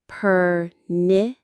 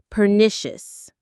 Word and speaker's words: pernicious: Let's try the pronunciation. Pernicious. Pernicious. That stress is right in the middle. Pernitious. Try it. Pernicious.